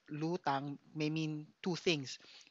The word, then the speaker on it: lutang: the song is entitled lutang or lutang uh but before I so it e lutang or L lutang May mean two things if you pronounce it as lutang it means uh float as in you know